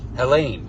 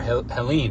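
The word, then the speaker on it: Ἕλλην: But that word, the Greek word there is Hellene, or Helene, however you'd like to pronounce it.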